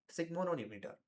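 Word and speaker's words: sphygmomanometer: तो स्फिग्मोनोमीटर, इसको क्या बोलते हैं? सिग्मोनोमीटर। ठीक है? तो इसको ऐसे मतलब कि प्रोनाउंस कर सकते हो, जैसे सबसे बेस्ट रहेगा आपके लिए सब नो, ठीक है, नो मीटर। इवन तो यहाँ पे एन की स्पेलिंग आती है, बट आप मीटर भी बोलोगे तो इतना ज्यादा गलत नहीं होगा। ठीक है, इसको ऐसे करके आप बोल सकते हो, स्फिग्मोनोमीटर।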